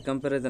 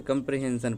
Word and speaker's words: comprehension: इसे कंपैरिजन नहीं, इसे कंप्रीहेंशन पढ़ते हैं इसे, ठीक है। लिस्ट कंप्रीहेंशन, इसके ना क्या करते हैं, 2 लाइन के कोड में ना 10 लाइन काम कर सकते हैं।